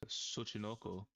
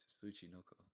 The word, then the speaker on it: Tsuchinoko: Hey, I don't even know how to pronounce this. Suchinoko.